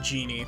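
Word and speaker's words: Djinn: After bringing a this is technically pronounced genie, but...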